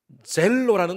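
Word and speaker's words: ζῆλος: 이 열심이라는 단어가 헬라어 말로 젤로라는 단어입니다. 우리 젤로 지금 젤 보내지 않습니까? 돈 보내듯이 그 같은 발음이에요.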